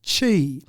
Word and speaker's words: Qi: Now QI is pronounced chi. Oh, sorry. No, I'm the same as you. Yeah. I normally say QI to people because I say chi and they think, what are you saying?